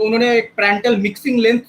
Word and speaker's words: Prandtl: तो यहाँ पे यू डैश जो हो जाएगा वो क्या हो जाएगा, तो उन्होंने एक प्रेंटल मिक्सिंग लेंथ से एक एक्सप्रेशन दिया जिसको बोला जाता है L into du by dy।